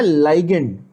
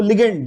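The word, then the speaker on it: ligand: नाउ the actual pronunciation should be लाइगेंड, okay. मैं हिंदी में लिख रहा हूं लाइगेंड, समझ रहे हो, लाइगेंड ऐसे बोलते हैं, बट बहुत सारे रेफरेंस बुक्स में बहुत सारे टीचर्स उसको लिगेंड लिगेंड बोलते हैं, ठीक है।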